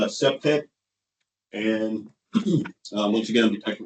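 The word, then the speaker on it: CPTED: It's uh pronounced septic and once again I'm detective Washington and that's program crime prevention through environmental design.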